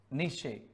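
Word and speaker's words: Nietzsche: ई आई डी आर आई सी H Frederick निशे निशे एन ई आई टी जेड एस सी एच ई नीचे spelling थोड़ा देख लेना लेकिन Frederick निशे थे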